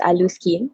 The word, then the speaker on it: Alluskin: we pronounce it as alu skin so it's actually like the combination of allure and skin so you combine it